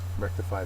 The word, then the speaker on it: rectify: next word is Rectify Rectify is a verb first syllable is accented it means to make